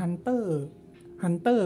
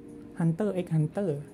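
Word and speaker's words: Hunter × Hunter: แล้ว ก็ โชจิน x ปกติ การ์ตูน ญี่ปุ่น มัน มัน ไม่ ออก เสียง X ใช่ มย เหมือน ิ เนี่ย เ ไม่ ออก เสียง x Holic หรือ Hunter Hunter ก็ ไม่ อ่าน Hunter x Hunter หรือ ว่า มัน จะ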